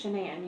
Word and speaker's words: Shanann: It's Shanann. You pronounce it like shenanigans. Okay. Everybody calls her everything else but that, but it's Shanann.